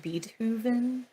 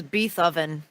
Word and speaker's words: Beethoven: though because there's some very interesting tidb it's pronounced beatoven Oh I thought it was be oven Oh I thought it was bethoven so anyway Beethoven okay as was said in